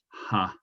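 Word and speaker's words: は: you're reading japanese text if you want to say what as in korewa pandes that is not written as written as ha which is why i sometimes write ha instead of war okay so if i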